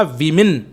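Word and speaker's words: women: MEN हो जाता है, उसका प्रोनाउंसिएशन होगा वीमिन। बहुत सारी औरतों क्या बोलेंगे? विमिन, और एक है तो वुमन।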